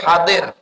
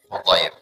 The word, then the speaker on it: Hudair: Dari hadir. Salah. Hudair.